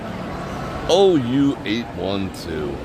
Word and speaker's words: OU812: Say it each individually. OU812. Okay, OU812.